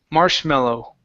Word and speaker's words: marshmallow: this is marshmallow so at the end of the word you need to say oh marshmallow marshmallow Marsh there you go yeah make sure to pronounce that o sound marow instead of marshmallow Okay you need an oo sound at the very end okay okay all right